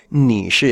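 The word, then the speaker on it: 你是: Ni shi es un tercer tono más un cuarto.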